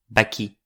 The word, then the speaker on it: vaquí: Comme dans : Où l'on entend bien que je prononce "vaquí" (voilà) en insistant sur le I et non pas sur le A comme j'aurais dû le